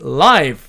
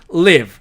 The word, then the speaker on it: live: 자, 그 다음에 live로 철자하는 이 단어는 형용사로서 활기 있는이라는 의미로 쓸 때는 live 이렇게 발음을 하고 동사로서 살다라는 의미로 쓸 때는 live 이렇게 발음한다는 뜻입니다.